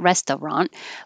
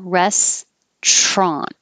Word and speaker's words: restaurant: well we pushed together we dropped the middle syllable completely so it's not restaurant but push it together